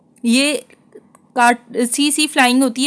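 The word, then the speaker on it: tsetse: ऑफ सी C flying C C flying में इसमें T silent होता है इसको बोलते हैं सी सी फ्लाइंग यह एनसीआरटी में इसका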